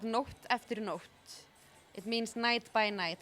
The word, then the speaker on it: Nótt eftir nótt: how long I've visited so why don't you pronounce it form it's called North afternoon off it means night by night or night after